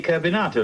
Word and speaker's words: Carbonato: name that gentleman's name is simply carbonato like potato you mean carbon like potato potato potato Carbon carbonato Let's Call